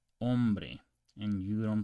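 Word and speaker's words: hombre: the I so okay the H is silent in Spanish okay so you don't pronounce this as in om you pronounce ombre and you don't pronounce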